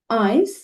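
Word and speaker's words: eins: তো আমি আবারও আপনাদের সুবিধার জন্য উচ্চারণগুলো বলে দিচ্ছি। নুল, আইন্স, সোয়াই, দ্রাই, ফিয়া, ফুনফ, জেক্স, জিভেন, আট, নয়, সেন, এলফ, সোলফ।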